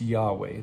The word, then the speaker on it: Yahweh: Hebrew it's Yahweh and there's some disagreement about how that's pronounced but it it's Yahweh that's I and that's